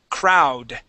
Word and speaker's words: crowd: Crow crowd crowd good give me a D sound at the end crowd crowd all right I'm I'm still missing that D okay we want to say crowd Crow all right so let's talk about that D sound okay so at the